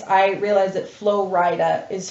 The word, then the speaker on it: Flo Rida: names, I realized that Flo Rida is Florida. Is Florida? And he's from Florida. Realized? I thought it was like Flo Rida, like he's like a Rida, I don't know.